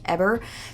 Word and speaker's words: Heber: And then at that time, it looks like it should be pronounced Heber, but I'm pretty sure it's pronounced Heber, told Rose that he wouldn't allow her to visit her own daughter anymore.